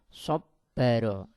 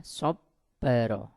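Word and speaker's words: صَبَّرَ: Yang pertama, sobbaro. Nah, huruf di sini yang bertasydid adalah huruf ba. Maka cara membacanya adalah huruf ba-nya ditahan ya, sobbaro. Jadi ditahan.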